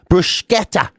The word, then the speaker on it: bruschetta: No, apparently you're supposed to put the K sound in. Bruschetta is apparently the proper way to pronounce it.